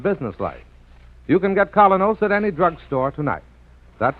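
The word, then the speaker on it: Kolynos: you'll see the difference so start today the colonos way your reward will be a naturally brighter more attractive smile the kind of smile that helps you go places in Social and business life you can get colonos at any drugstore tonight that's spelled KO y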